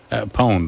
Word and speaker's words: pwned: I don't like that it's pronounced pwned when there's no O there.